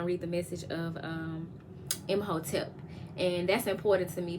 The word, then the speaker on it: Imhotep: I call them Hoteps, HOE-TEP. But the correct pronunciation of it is Imhotep, which is Egyptian energy from the third dynasty.